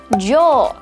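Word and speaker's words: 上: Dan kanji ini dibacanya jo. Panjang ya. Dibacanya jo ya.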